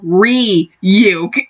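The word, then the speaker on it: Ryuk: and Enriquez like hey dumbass is pronounced re you that was [ __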